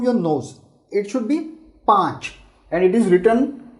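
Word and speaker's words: पाँच: Now here while pronouncing, just keep an eye on this N, because this is a nasal. This is a nasal pronunciation. You should not say patch. Patch is a very poor quality of Hindi, saying patch. You should always say panch. Pang. So it should come from your nose.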